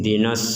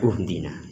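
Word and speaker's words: اهدنا: kaidah, mereka sudah mengetahui sehingga dibaca ihdina dan tidak dibaca uhdina karena berasal dari fiil hada yahdi, ihdi.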